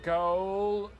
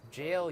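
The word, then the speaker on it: gaol: The Viaduct Tavern goal. It's jail, you idiot. Jail? Who spells it that way? That's how they used to spell it back in Old English times.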